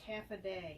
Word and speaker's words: Hafa Adai: It says it's pronounced half a day.